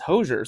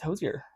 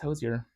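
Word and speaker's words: Hozier: josier I think have I been saying his name wrong for a decade because your doctor's name is hoser so I think your I thought it was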